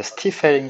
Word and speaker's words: Stiefel: 그리고 이제 4장으로 넘어가는데 저희 뭐 한글 번역은 슈티펠이기도 하고 뭐 누구는 스타이펠이라고 읽기도 하고 근데 찾아보니까 정식 발음이 이제 스티펠인 것 같아서 스티펠로 읽으려고 하고요.